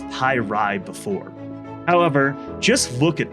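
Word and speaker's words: Py'Rai: pi ray race revealed steven was pronouncing it on stream pi ray which is interesting because i'm pretty sure they have referred to it on stream as pi ride before however just look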